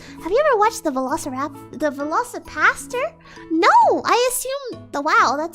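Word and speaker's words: VelociPastor: I keep saying it wrong. I keep trying to say Velociraptor, but it's a Velocipaster.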